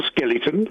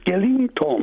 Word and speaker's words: skeleton: So why are you saying ing in the middle of it? I'm not. If you listen very carefully, I'm not. Warn you, beware the Ides of February. skeleton, spell Skellington. Yeah, no, not ing. You're saying ing, Skellington.